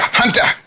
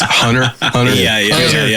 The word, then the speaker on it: Hunter: Hunter, come here, Hunter. And I never heard anyone pronounce my name with the T. In the South, it's Hunter. Yeah.